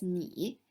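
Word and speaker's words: 你: tone so it's in and combined together it's pronounced as me and written like this meaning you again i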